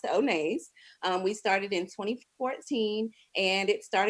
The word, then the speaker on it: Onays: First of all, the name of my company is Onays. That's how you pronounce it. Onay is my middle name. And don't be afraid to mess that up because I've gotten onesies and all other kinds of things. So it's actually pronounced Onays.